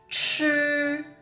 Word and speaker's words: 吃: Second one, 吃, 吃, this pronunciation. 吃. Again, we don't curl it. We don't curl the tongue, okay?